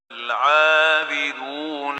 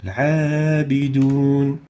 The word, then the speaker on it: العابدون: العابدون, the عين, again, is not among خصادات القذ, so the حكم is attenuation, ترقيق, as we're going to listen to Sheikh al-Husari giving it or pronouncing it with ترقيق. العابدون.